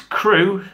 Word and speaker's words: Crewe: Crewe. How do you spell it so I can start planning? It's Crewe.